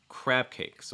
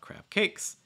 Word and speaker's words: crab cakes: join those together um and you want to stress the first one so crap crab cake so it's not crab cakes it's crab cakes crab